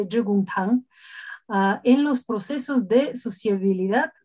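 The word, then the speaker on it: 致公堂: de la red global Chi-Kung-Tung. Nos va a decir Ricardo después qué pronunciación es esta. En chino mandarín sería Zhigong-Tang.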